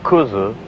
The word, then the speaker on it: kudzu: mindless unkillable ghosts the American coastline is properly pronounced kuzu in Japanese it is a vine belonging to